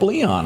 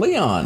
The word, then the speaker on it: Leo: and I thought Pope Leon. I said that's pretty good from America. I thought it was Leon.